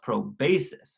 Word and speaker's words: proboscis: mouth is called the proboscis it sucks up sweet juice called nectar from flowers and is actually pronounced pro basis I can use right